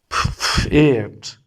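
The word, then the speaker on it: Pferd: T F E R D means fate. Fate means uh horse. So be careful with the voice of D. Uh here it gives the voice of T fa you have to pronounce P and F both.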